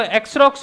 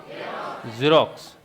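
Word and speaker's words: Xerox: अब इसको जो एक्सरॉक्स होता है क्या? ये क्या है? ये जीरोक्स।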